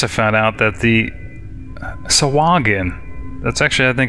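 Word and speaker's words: Sahuagin: Wizards of the Coast their pronunciation list it's swagan and with a hard G not with a J I think I was maybe pronouncing it sain I guess what's interesting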